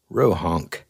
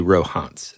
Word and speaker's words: Rohonc: So whenever I found out about this book, I thought it was the Rohonc Codex, right? Mm-hmm. But it's actually Rohonc, and that's how you pronounce it.